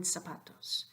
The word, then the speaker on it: zapatos: illustrated by the word zapatos so what I'm saying here is that the initial letter Z sounds like an S and the final s